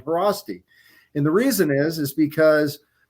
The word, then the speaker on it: Haraszti: And shout out to Doc Chris Haraszti.